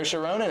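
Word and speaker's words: Rónán: It's Ronin.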